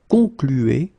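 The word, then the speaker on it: concluent: Okay, concluez, and then here conclu. Okay, keep in mind that even if you put this final ENT, so the ending, you don't pronounce it. So phonetically, you get conclu, conclu.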